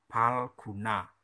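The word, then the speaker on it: Phalguna: Jadi PHA jangan dibaca kayak bahasa Inggris, mirip F. Cara bacanya pa tapi dikasih pa. Palguna, yaitu ini ya, palguna.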